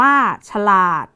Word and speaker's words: ฉลาด: ที่ 2 นะ คะ ฉลาด อ่าน ว่า ฉลาด คำ ที่ 3 นะ